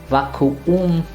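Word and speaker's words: Vakuum: Vacuum. It's actually one word where the u comes twice and you have to pronounce each one separately.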